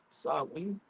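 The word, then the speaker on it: Samhain: Sam Hayne are pronounced sen.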